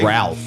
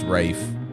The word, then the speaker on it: Ralph: ralph finds right wraith it's ralph but it's rafe i know i'd be